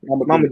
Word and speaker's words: Mamadou: Let me see if I can pronounce the first name. Mamadou. Yes, sir. Mamadou. You got it right first.